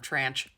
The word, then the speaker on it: tranche: That is the American pronunciation of tranche.